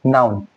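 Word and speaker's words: known: नाउन। के एन ओ डब्ल्यू एन नाउन यहां के साइलेंट होता है।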